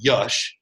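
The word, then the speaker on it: Yash: This gentleman's name is Y-A-S-H, but it's pronounced Yush, so we just go all over with it.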